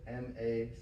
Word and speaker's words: McRae: But McRae it's like MACCRAY. It's only 3 towns.